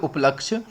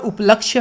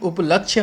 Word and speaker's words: उपलक्ष्य: for third वाला जो उपलक्ष्य में यहां पर उपलक्ष्य होता है उपलब्ध नहीं होता है लेकिन फिर भी हमारे उच्चारण के रहता है कि दीवाली के उपलक्ष पर तो उपलब्ध नहीं उपलक्ष्य होगा यह आप ध्यान रखेंगे